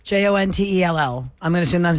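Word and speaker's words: Joanteal: we go on to john tell j-o-n-t-e-l-l i'm gonna assume that i'm saying it right john tell hello it's it's hi it's gentile it's j-o-a-n-t-e-a-l jontel welcome to the relationship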